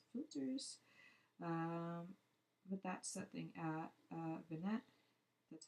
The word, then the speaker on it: vignette: But that's something Vignette.